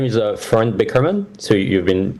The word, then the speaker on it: Florent Bekerman: Yeah, my name is Florent Bekerman, so you've been pronouncing it well.